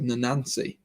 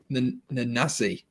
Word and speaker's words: Nanasi: No, I said Nanansi. Nanasi. That's how you say it.